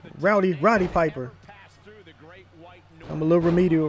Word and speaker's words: Roddy Piper: go when we hear man against a legend rowdy rowdy Piper well did I say it right Rowdy Roddy Piper I'm a little remedial right now but there